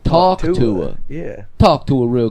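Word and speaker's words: Talk Tuah: Because I was just like, oh, talk rhymes with hawk. I didn't even get Tua. like talk to her.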